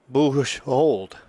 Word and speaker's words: Boujold: And going over is Sienna Boujold. It's a French name, Boujold, and that's how we're going to pronounce it. And the dad is right there, and he says, Joe, you finally nailed it.